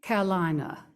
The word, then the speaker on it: Carolina: Caroline, Carolina. If you want to say it like a native, it is a 3-syllable word.